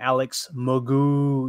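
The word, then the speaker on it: Alex McGough: and he does say, yeah, I pronounce his name Alex Magoo.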